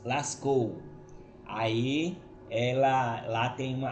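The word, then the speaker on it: Lascaux: de lascou lascou é uma cidade da França se escreve l.a.c. é é k u x lascou aí ela lá tem uma a caverna né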